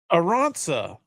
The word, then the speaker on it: Aranza: Aranza. The whites don't get it. Okay, yeah. It's Basque. What is that? Basque. Is that Basque. Yes. Yeah, it's like it's from a region.